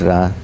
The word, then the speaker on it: Ra: and the Egyptian goldra some say R but it's ra I mean the same